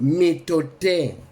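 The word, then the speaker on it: mitote: Your whole mind is a fog, which the Toltecs call method, pronounced metote.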